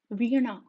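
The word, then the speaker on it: వీణ: You need to curl your tongue back and touch the roof of your mouth, right? So, ana, veena, V-E-E-N-A, veena.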